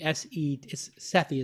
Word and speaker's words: Sethi: And Sethi, Sethi is how it would phonetically be pronounced, but it's S-E-T-H-I. A-R-J-U-N-S-E-T-H-I.